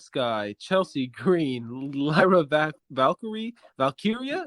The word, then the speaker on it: Valkyria: Chelsea Green Lyra Valkyrie valkyria is it valkyria it's it's valkiria valkiria Tiffany Stratton Naomi and